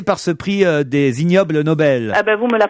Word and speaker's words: Nobel: Obel IG plus loin Nobel ça se prononce comme ignoble et effectivement c'est un